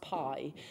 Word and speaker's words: bi: now called uh well they say it's spelled b I but it's pronounced Pie when referring to them